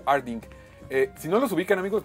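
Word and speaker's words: Artdink: ¿Cómo se pronuncia? ¿Arding? Sí, es estudio Arding.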